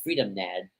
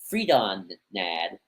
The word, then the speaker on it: Freedon Nadd: Oh, we call him Freedom Nadd with O-M. We got to pronounce O-N. Freedon Nadd.